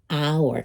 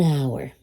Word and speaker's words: hour: sino el sonido como hour, que no se pronuncia. So again, this is where you see the vowel sound because the H is silent.